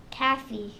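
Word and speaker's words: café: Cafe. Calf. What sound does the E make in Spanish? Eh. Cafe. Cafe. So when you in Cafe. Spanish, that line means that you pronounce that E hard in Spanish.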